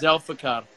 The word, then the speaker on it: Zulfikar: Zulfikar. You probably have to roll the R with a name like that. Zulfikar.